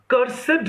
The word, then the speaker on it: cursed: He surfeits upon cursed necromancy. और उसने cursed, इसका प्रोनाउंसिएशन जब हम एडजेक्टिव की तरह करते हैं ना, पास्ट पार्टिसिपल निकालते हैं. सो कर्सेड नेक्रोमेंसी, कि नेक्रोमेंसी जिसको अभी